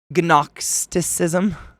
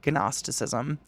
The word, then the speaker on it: gnosticism: what I see in the g is silent okay that's I was trying to say it like agnostic gnosticism Ginos that's a weird word gnosticism they conventionally forget that